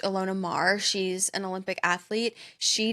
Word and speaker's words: Ilona Maher: years old where I believe her name is pronounced Ilona Maher.